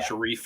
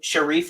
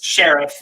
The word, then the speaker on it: Sharif: Oh yeah, Sharif Ali. I think that's how they pronounce it in the movie. Yeah, it's like I think it's technically Sharif Ali, but I mean Lawrence just calls him Sheriff.